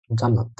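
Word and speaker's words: Jannat: হল ওরা শুরুতে বুঝতে পারবে যে আপনার নাম ইয়ান্নাত কিন্তু আপনি যদি এটা বেশ কয়েকবার তাদেরকে মনে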